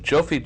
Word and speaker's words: Jofi: I believe his name is pronounced Jofi Joseph, age 40, was fired from his job on the National Security Council Nuclear Non-Proliferation Team.